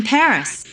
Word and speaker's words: Paris: 16% of the people of France live in Paris. Wow. So, this is Paris. I can't believe that I've never visited the capital of France before. Yeah. Well, the locals pronounce it Pari.